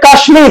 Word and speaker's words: কাশ্মীর: দেখো প্রথম যে বেরিয়েছে কাশ্মীর, প্রথম শব্দটা দেখেন তো, এখানে কাশ্মীর হচ্ছে কি সংস্কৃত ভাষার শব্দ, অথবা কুষ্মাণ্ড সংস্কৃত, তো সংস্কৃত বা তৎসম ভাষার শব্দ যদি মফলা থাকে তার উচ্চারণ বজায় থাকবে, তাই এখানে মটা ময় এসেছে।